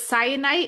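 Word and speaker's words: Syenite: So, it's cyanite in the audible and then cyan for her nickname.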